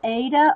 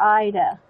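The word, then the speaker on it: Aida: Is it pronounced Ada or Ida? A-I-D-A. It's like that Ida cloth.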